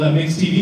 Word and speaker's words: MYX TV: the clips right there myx TV it's called mix TV that is uh it's